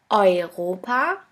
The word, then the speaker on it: Europa: The next letter combination is EU or EU, which is pronounced like oi, oi. Here we have the example of the word Europa, which means Europe. The next letter combination is